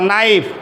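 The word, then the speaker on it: knife: half লাইফ লাইফ নাইফ দেখো এন এর পূর্বে কি আছে কি এর উচ্চারণ হবে না বলো নাইফ নাইফ thief thief kick কি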